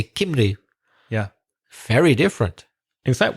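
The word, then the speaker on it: Cymru: I think I know how to say Wales in the Welsh language it's Kinley isn't it that's right yeah so it doesn't even sound like English Spanish sounds more similar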